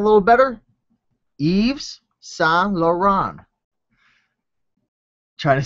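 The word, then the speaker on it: Yves Saint Laurent: Okay, so Bonafide is trying to teach me how to pronounce it. Eves s Lauron. Does that sound a little better? Eves San Lauron.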